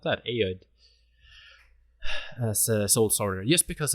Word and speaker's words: Ayoade: How do you pronounce that? Ayoade.